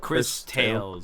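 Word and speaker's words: Cris Tales: Is it spelled how you say it? Like Chris Tales. Yeah. CRIS. CRISTALES. Yeah.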